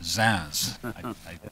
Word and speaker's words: Zunz: Virginia Commonwealth Professor Olivier zans and it is pronounced zans I checked from now on it will be